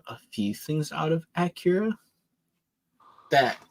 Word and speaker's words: Akira: No, it's Akira. I keep saying it wrong. Akira.